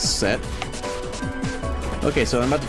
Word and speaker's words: Seth: It's pronounced as set.